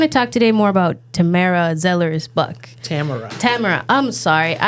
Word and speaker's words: Tamara: It's Tamara, Tamara, Tamara. Tamara. Tamira. So I've heard it all of those ways. Okay. And most often, people will either say Tamara or Tamara.